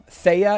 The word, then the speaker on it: Thea: happy new year lately vino says thea thea is how you pronounce it tia says osha interesting